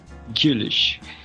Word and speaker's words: Güllich: Como é a pronúncia? Gulich.